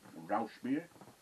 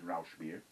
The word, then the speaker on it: Rauchbier: Is that how you pronunciate it? Rauchbier. R-A-U-C-H beer. B-I-E-R. It's German. Rauchbier. I think it's Rauchbier.